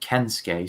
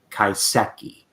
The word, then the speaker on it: Kaiseki: to try my best I called it kensuke so many times even though I know it is not that it is kaiseki that's as close as